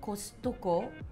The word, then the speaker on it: Costco: right so for kostucko why is it not called costco well the thing is the t sound is kind of hard to pronounce for japanese okay because it's like a subtle tea right costco right but when we see tea we want to pronounce it so so you're emphasizing the tea you're like making it alive yeah all right fun